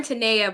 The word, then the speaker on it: Tenaya: It's born Tenaya, but I'm so used to it being said as Tenaya because of Hartford. Spanish language speakers often call me Tenaya, so it's definitely a variation that I accept.